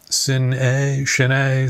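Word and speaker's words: Sin-é: I heard it pronounced several different ways. It's S-I-N-E, Cine, some people called it.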